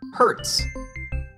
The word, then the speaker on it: hertz: And we measure frequency in units called hertz. Oh, does frequency hurt? Oh no, that's a totally different word. Oh, good. Hertz is spelled H-E-R-T-Z, and it tells us how many times something happens per second.